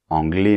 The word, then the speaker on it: anglais: adjectifs à la prononciation par exemple anglais masculin anglaise féminin c'est très important que pour le féminin tu prononces bien le ze de la fin c'est-à-dire le S pour le masculin le S la lettre S est en position finale donc comme généralement les consonne elle ne se prononce pas anglais quand on rajoute la lettre E la lettre E en position finale est muette mais attention la lettre S n'est plus muette parce qu'elle n'est plus